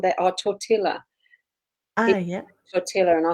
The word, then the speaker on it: tortilla: Tortilla. And I said, it's tortilla. You don't pronounce the L's.